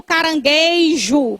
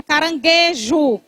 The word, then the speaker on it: caranguejo: Nem como carangueijo que o povo coloca o I. É. Caranguejo sem o i.